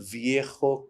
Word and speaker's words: Viejo: Viejo in Spanish means old. Okay. And it's spelled with a J. So he kept saying Viejo. So I said, then after I cooled down, I said, I'm really sorry I was curt with you, but I also want to point out something. This is how you pronounce it.